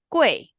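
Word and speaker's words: 贵: n how okay how second one Quay qu make sure it's a false so okay now everyone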